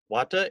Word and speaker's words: Vata: foot numbness due to Vata wata is how theis pronounced the Indian term Vata an aria Vedic trim